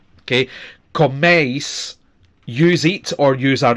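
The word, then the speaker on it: coméis: So again, we have two clear vowel sounds, eis, with the stress on the first one. Okay, comeis, use eat or use are eating.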